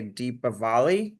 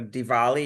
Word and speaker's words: Diwali: So Diwali, it's spelled Diwali, Diwali, or they say Deepavali. So Diwali is what you'll hear when someone says it.